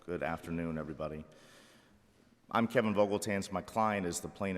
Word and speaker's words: Vogeltanz: Council let everyone get situated all right Mr I pronounced your name correctly you did your honor okay um you may begin thank you may please the court opposing Council good afternoon everybody I'm Kevin vogeltans my client is the plane of Shane Wilkinson